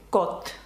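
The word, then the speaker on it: côte: дає звук О ну наприклад таке слово як кот кот - це берег чи узбережжя наприклад кот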